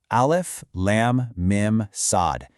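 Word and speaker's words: المص: The verse kicks off with those four letters, alf, lamb, mim, sad. And they're not pronounced as a word. They're recited individually.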